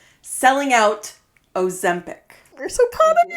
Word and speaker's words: Ozempic: No, that's how you say it. Say it again. Ozempic. Ozempic. It's an E, not an A.